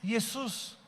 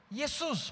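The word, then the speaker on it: Ἰησοῦς: escrito em grego sabe como é que se escreve Josué em grego ali que diz grego S um pouquinho menos pior e diz yesus yesus parece o quê Jesus a palavra Josué o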